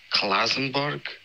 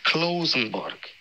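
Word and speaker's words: Klausenburg: hasidish accents pisces whatever you butchered and klausenberg it's closenbark if you can't say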